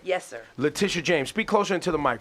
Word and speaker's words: Letitia James: Letitia James.